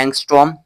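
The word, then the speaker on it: ångström: उसको हम कहते हैं एंगस्टर्न। ठीक है? एंगस्ट्रोम। ठीक? इसका प्रोनाउंसिएशन क्या है? एंगस्ट्रोम।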